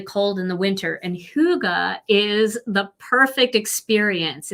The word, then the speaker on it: Hygge: Yes, Hygge is spelled Hygge. Nothing like it sounds. I thought it was Hygge, but it's not. It's Hygge.